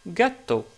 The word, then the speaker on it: gatto: Par exemple, pour ce mot-là, justement, qitton qui veut dire un chat, en italien, on le prononce gatto.